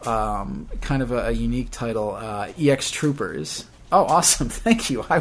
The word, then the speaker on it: EX Troopers: It's not X Troopers. It is EX Troopers.